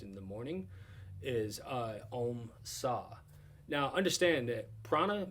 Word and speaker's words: Om: silently in your head it's pronounced more like om like a-u-m right so breathe in